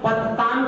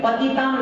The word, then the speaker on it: पततां: यहाँ पर क्या होता है, कोई पततां के स्थान पर पतितां बोल देते हैं, क्या बोलते हैं, जबकि पतिताम नहीं है, पतताम है।